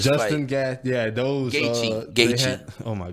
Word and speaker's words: Gaethje: Goche, man. I don't know. Yeah, man. That That's is Justin. not No, close that's to Justin Goche. Gaethje, boy. That don't say Justin none of that. Gaethje, man.